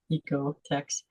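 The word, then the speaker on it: OEKO-TEX: It's spelled OEKO. So you don't say the O, Ecotex 100.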